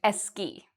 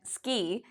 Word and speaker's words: ski: might add and "e", and so they might pronounce this like: "eski", which is not the correct pronunciation.